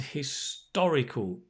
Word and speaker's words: historic: so confused historic and historical can you say them with me because the stress is on the oh historic historical so they are very